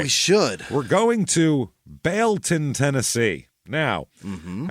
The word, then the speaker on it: Baileyton: Bon Tennessee now mhm I say like that with a little bit of you know a little bit of skepticism in my voice because it is spelled Bon b a i l e y t o n and it was originally Bal town and then they dropped the thing I guess cuz